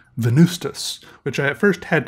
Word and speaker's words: Venvstas: Venvstas, and you know, this is pronounced like a U, but it's written like a V.